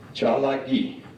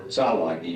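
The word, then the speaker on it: ᏣᎳᎩ: Cha-la-gi, or Tsa-la-gi, depending upon, there were 3 dialects in the Cherokee language, and they pronounce these a little differently.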